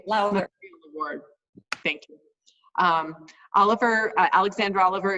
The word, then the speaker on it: Lowther: Post, and won the, tell me how to pronounce it this time, Pat Lowther? Pat Lowther. Pat Lowther. Thank you. Lowther.